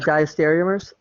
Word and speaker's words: diastereomers: or something like that right how do you pronounce that uh diastereomers yes okay well remember uh diastereomers are when